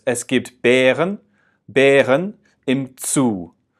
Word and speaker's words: Bären: So it's Es gibt Bären im Zoo. So that AE, Bären, it feels like there's an E at the end of it, Bären.